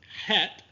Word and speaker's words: Het: So historically, Het was pronounced deep in the throat, while Chaf was pronounced at the roof of the mouth. Today, both are pronounced at the roof of the mouth, but in our course, we will try to maintain a distinction between Het and Chaf.